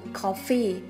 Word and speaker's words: coffee: Tuy nhiên chúng ta có hai ngoại lệ, đó là từ coffee, trọng âm rơi vào âm đầu tiên, từ committee, trọng âm rơi vào meet.